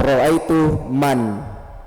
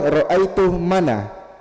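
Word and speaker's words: رأيت من: Kalau ra itu ah tetap roaitu man. Tetap disukun man. Roaitu man. Jangan bilang roaitu mana.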